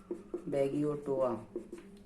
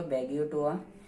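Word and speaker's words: Beggiatoa: और बैगियोटा एक बैक्टीरिया और है, बैगियोटा, ठीक है, बैगियोटोआ, उच्चारण इस तरह से होगा, बैगियोटोआ।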